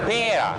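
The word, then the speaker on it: pearà: Con l'accento sulla fine. Pera? Sì.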